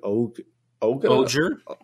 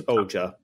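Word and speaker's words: Ohger: we will be getting the Osama Sentai King Oak Oakland again with our pronunciations being truly great ah it's oja okay thank you so much God damn it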